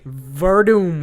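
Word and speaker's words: Werdum: Verdum. It's pronounced that way, but it's spelled with a W, you idiot.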